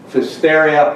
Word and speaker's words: Pfiesteria: Sounds like a biblical book, but it's actually about the problem of hysteria pista, which is what I'm going to be talking about. Hysteria, I know it rhymes with hysteria, but it came from the name of a woman, scientist named Lois Feister.